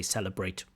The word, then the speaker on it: celebrate: it out loud and she pronounced it with a vot and after correction she was able to say celebrate immediately so that's good um but more awareness so keep that in mind that you have a problem with the B that you often pronounce it as a v now this is often